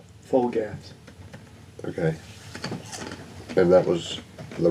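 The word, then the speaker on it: Flgath: didn't say it right so f l g a t h full gas okay and that was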